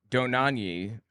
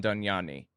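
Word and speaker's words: Dohnanyi: same reasons same everything doni I think is how it's pronounced was his name Hans Von danani uh he was Dietrich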